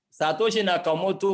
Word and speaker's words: Satoshi Nakamoto: chat i want to be sure i'm not mispronouncing the name satoshi nakamoto yes satoshi nakamoto was the man or the group of men